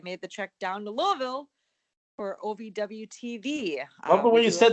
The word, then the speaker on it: Louisville: Louisville enough now that I'm getting the Louisville. I guess I know that's a proper way to say it. So Louisville, yeah.